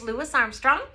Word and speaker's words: Louis Armstrong: S so let's say his name correctly it's Louis Armstrong he was born in New Orleans Louisiana some